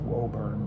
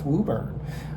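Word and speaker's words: Woburn: I pronounce it Wurn, but I found out it's Wuburn.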